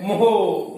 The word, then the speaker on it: mho: तो वैद्युत चालकत्व का मात्रक उल्टा होता है, देखो उल्टा इधर से, ये नई स्टाइल का मात्रक है, MHO। MHO। तो इसको कैसे कहोगे? मोहो।